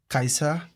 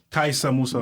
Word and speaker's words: Kaisa: K let me how you how do you spell it k a r s a kaisa kaisa Musa mus kaisa Musa kais Musa for sure yeah